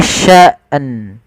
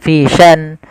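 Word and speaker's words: شَأْنٍ: Kulla yaumin hua fi sya'an. Haah. Ini yang sering terjadi kesalahan. Dia tidak membaca nannya fian fisan.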